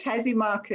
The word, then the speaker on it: Hazimarcu: um is he marcu how do you say your name correct hazy marco yep hello hi carol hi